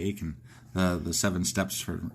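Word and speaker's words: Achan: to a or a rhymes with bacon. Yeah. Yeah. there. It'll be like the seven um whatever the you know the bacon thing only we'll say Aken the the seven steps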